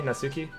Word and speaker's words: Natsuki: You just don't pronounce the T. You, the T is silent? Yeah, Really? Natsuki?